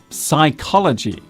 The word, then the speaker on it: psychology: Our final misspelt word today is psychology. This is a real stinker of a word to spell because it contains not one but two silent letters. The P and H are silent.